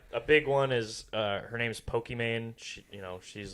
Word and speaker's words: Pokimane: is Iman, but then she loves Pokemon, and so she made it like Pokimane. Is how you pronounce it.